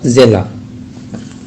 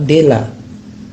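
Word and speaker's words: дела: Bahasa Rusianya Kak Zela. Di sini kita lihat kak dalam tulisan bahasa Rusia adalah kak, ya, kak. Itu tulisan Rusia yang lainnya itu dela. Jadi tidak kita ucapkan dela, tapi zela.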